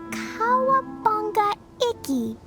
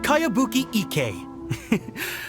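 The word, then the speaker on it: Kayabuki Ikku: heard of it by cowabunga icky this is a really strange name who's this cowabunga it's pronounced kayabuki ek that would be me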